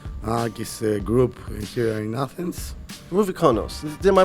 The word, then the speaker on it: Ρουβίκωνας: Rubikonos. Am I pronouncing that right? Well, sort of. Yeah, Rubikonas, yes.